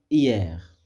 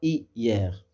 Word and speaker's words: hier: que l'on sépare habituellement par exemple hier hier on dit hier on dit pas hier d'accord pour Lyon on